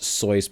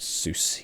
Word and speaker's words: Seuss: ted geisel um absolutely strictly his name is pronounced soyuz but except soos yes um seuss had